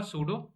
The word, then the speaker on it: pseudo: सबसे पहले तो एक फाइल को क्रिएट करेंगे जिसका नाम होगा सूडो। ओके, सो यहाँ पर पी जो है वो साइलेंट है।